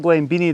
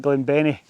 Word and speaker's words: Glen Benny: down over Glen Benny it's not Glen bie the farmer pronounced it Glen Benny heading up here which